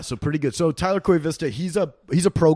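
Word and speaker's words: Koivisto: i was like man it is an o at the end of his name but it's pronounced koi vista didn't know that so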